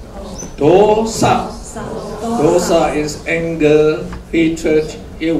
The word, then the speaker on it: dosa: And now, D-O, we say O. O, you have to pronounce O. Dosa.